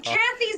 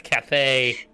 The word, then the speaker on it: Cathay: Not Well, if Kathy's not pronounced Kathy. It's not Kathy, it's Cathay.